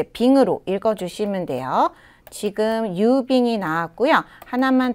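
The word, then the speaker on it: 郵便: 이렇게 읽으면 되고 그다음 운송수단과 관련될 때는요 얘를 빙으로 읽어요 그래서 배로 보내는 거 배편 그다음에 항공편 지금 나오는 우편 이런 것들은 다 이제 빙으로 읽어 주시면 돼요 지금 유빙이 나왔고요 하나만 더 적을까요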